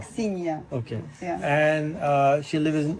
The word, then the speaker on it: Aksinya: Aksinya. Aksinya. Is that same as Ksenia? Not Aksinya is different. Aksinya.